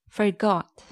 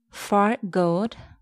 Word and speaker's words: forgot: Number one, forgot. It's not forgot, it's forgot. Forgot, not forgot.